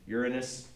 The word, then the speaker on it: Uranus: and a half times Uranus by the way that's how you say it it is not Uranus that's something else okay Uranus is the planet